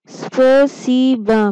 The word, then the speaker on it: спасибо: स्पेसिबा। Pronounce it again, स्पेसिबा।